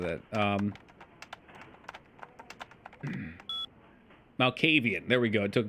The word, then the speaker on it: Malkavian: I say beat this and then beat it again as Malefakian so we can see the wizard shit. The Malvakian stuff is... I'm not pronouncing that. Malkavian.